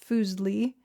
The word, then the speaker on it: Fuseli: Fuseli, pronounced Fuseli, was a neglected figure of the utmost importance.